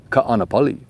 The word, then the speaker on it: Ka'anapali: It's not kanapali or kanapali. It's ka'anapali. Say it like you're at a luau. Welcome to a ka'anapali. Aloha.